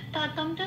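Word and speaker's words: ততম্: ততমটা যেমন আছে তেমন, শুধু খেয়াল রাখতে হবে যেহেতু এখানে ময় হসন্ত আছে ততম বলে উচ্চারিত হবে। হসন্ত থাকলে উচ্চারণটা, অক্ষরের উচ্চারণটা অর্ধ উচ্চারণ হয়, মানে ততম।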